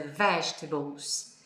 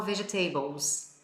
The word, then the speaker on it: vegetables: Por exemplo, na palavra legumes, é vegetables. E a maioria dos meus alunos falam vegetables.